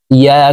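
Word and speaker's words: يَا: ইয়া খারা জবর ইয়া। 3 আলিফ টান হবে। মদের হরফের উপরে চিকন চিহ্ন, বামে হামজা, মধ্যে মুনফাসিল 3 আলিফ টানিয়া পড়িতে হয়। তো আমরা এই ইয়াকে 3 আলিফ টানে পড়ব।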